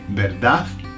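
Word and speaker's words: verdad: Now, notice that you don't say, okay, the Spanish don't pronounce the last d. Either they'll say berdaf with a beraf or they'll say nothing like they'll leave it hanging like berda.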